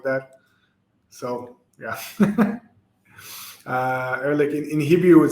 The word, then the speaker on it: Ehrlich: and at guessing uh so it will be uh early yeah yeah that's how you pronounce it yeah it's early um did you ever